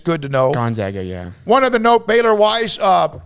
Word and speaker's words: Gonzaga: She said Gonzaga. Did you hear it was? Apparently that's how you're supposed to pronounce it. Yeah, which is it's good to know. Gonzaga, yeah.